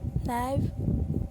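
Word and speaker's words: knife: First वाला है नी, lamp, com, थम, नाइफ, वॉच। तो स्टूडेंट, यहाँ पे जो भी वर्ड है उसमें कुछ ना कुछ साइलेंट वर्ड है।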